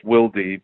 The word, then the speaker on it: Wilde: explain that before so it is pronounced wildy because it is from my father's side my father was 100%